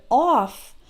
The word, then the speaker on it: off: And then in the word off, the FF is pronounced like F. Just right, off.